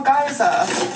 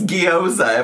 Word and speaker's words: gyoza: First of all, the first time she pronounced it, it was gyoza, which was closer than whatever that was, which was geyza, which is not. It's gyoza, if I recall correctly.